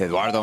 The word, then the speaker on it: Eduardo: Can you roll your R's? Let me try. Eduardo Perez. Nice, even though you don't have to roll it on the Perez, but I like that you can.